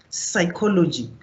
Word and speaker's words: psychology: But the more you see the word pneumonia, psychology, you will never thought that there is a P on psychology, but there is.